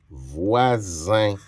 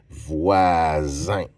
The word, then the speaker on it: voisin: J'ai besoin d'un S et après un voisin. Le S prononce comme un Z parce qu'il est entre deux voyelles.